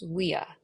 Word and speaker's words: via: what is the Latin word for street it's WIA so v i a duct of Viaduct is how we would pronounce it in English a Viaduct so a